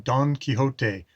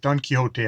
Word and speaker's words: Don Quixote: mammoth and uh yes reading don quixote going for the uh a vague approximation of the spanish pronunciation of it uh not the british even quixotic is a word in english but don quixote i'll go with um